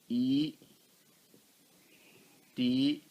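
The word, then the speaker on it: ettha: Now, but we do not pronounce E here as a long sound. Et, no, et. It is always stand for short sound.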